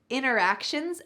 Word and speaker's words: interactions: This word, real life interactions, notice the pronunciation here, interactions. The T has been completely cut out.